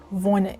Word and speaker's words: wohne: So to say I live in, it'll be ich wohne in. The W, you say it like a V. So ich wohne in.